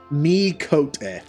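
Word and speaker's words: Miqo'te: just say me so it's me cote it's coat and not quote okay mikote or it would it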